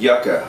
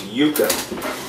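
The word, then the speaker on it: yuca: root by the way in the last uh section I said yaka my Hispanic girlfriend corrected me it is Yuka not yaka so my apologies for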